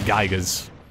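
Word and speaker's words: Giygas: With his psionic abilities of this and that, but yeah, it should have totally been just out of nowhere Gygas. That's how you pronounce the name.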